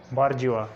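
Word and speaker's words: bourgeois: Examples oil, डेबरी, इसको डेब्रिस नहीं पढ़ना, डेबरी, उसी तरह ऑयल, और इसको हमने आइलैंड पढ़ना है और बॉर्जियो, इसमें एस साइलेंट है।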